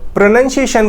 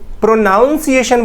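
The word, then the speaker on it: pronunciation: चीज बता दें कि कई सारे लोग प्रनंसीएशन को प्रोनोउंसिएशन बोलते हैं विच इन करेक्ट प्रनंसीएशन का उच्चारण होता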